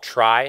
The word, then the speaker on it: trie: you hear it called try just to differentiate between tree but uh the the the word t r i e um comes from retrieval and so he says